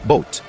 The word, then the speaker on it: boat: Esse O e A formam o som de O. Portanto, a palavra boat em inglês se pronuncia na verdade como boat.